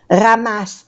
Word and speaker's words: ramasse: Ramasse tes jouets et range-les dans cette boîte. Range-les. No pronunciamos la E. Igual que aquí. Ramasse, no se pronuncia la E.